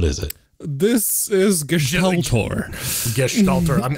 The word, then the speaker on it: Gestaltor: Gestaltor. I'm glad you included the sht. It's the Gestaltor, and it is 100% GLTF editing, whatever that means.